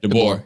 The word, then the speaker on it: DeBoer: about Nick Wright and Freddie, how do you pronounce his last name? Is it DeBoer? DeBoer.